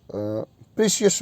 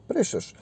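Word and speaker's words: precious: फिर है next 4 number, जिसको आप जनरली हम प्रीशियस बोल देते हैं इसको आमतौर पर, जनरल इंग्लिश में, इंडियन इंग्लिश कह लो, इसकी एग्जैक्ट प्रोनाउंसिएशन होता है प्रेशस।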